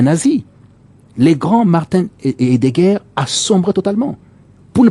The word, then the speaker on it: Heidegger: Martin Heidegger. Donc ça, c'est la prononciation en allemand, c'est lui.